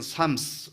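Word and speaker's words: Psalms: 자, 시들이 모여서 한 권의 책으로 편집된 것을 우리는 삶스, 이렇게 이제 시편들 이렇게 하잖아요. 자, 그렇다면 이 삶이라고 하는 이 단어가 프살모스에서 왔는데, 프살모스에서 피가 이제 영어 발음으로 되면서 묵음화 되어지면서 우리가 삶 이렇게 부르잖아요.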